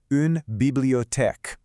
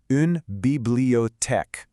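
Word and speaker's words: une bibliothèque: Next, we've got Unbibliotech. Now, it might look a little similar, but it's not the same. Let's try it out. Unbiblote. And now at normal speed. Unbibliotech.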